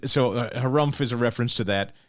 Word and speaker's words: Harumph: The Harumph Society.